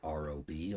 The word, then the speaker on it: Raabe: So today we're going to be um solving Rob's integral and it's spelled R A B not R O B although it is pronounced Rob.